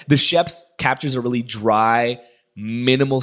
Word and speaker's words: Schoeps: I think Sheps is the way most people pronounce it, but I think sometimes it's pronounced Shopes, which sounds ridiculous. So let's go with the Sheps.